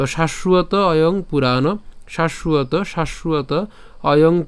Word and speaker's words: শাশ্বত: দ্বিতীয় উচ্চারণ করে থাকি দেখেন আমরা এটা বাংলায় উচ্চারণ কিভাবে করি শাশ্বত ঠিক আছে আমরা কিন্তু বাংলায় উচ্চারণ করি কিন্তু